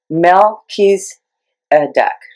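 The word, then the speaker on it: Melchizedek: this month here okay Mel pees a duck that's how it's pronounced Mel he's a duck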